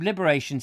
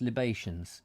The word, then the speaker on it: libations: she's probably forgotten probably forgotten um yeah so liberation's his drink not liberations liberation is that how it's pronounced libations uh a drink poured out as an offering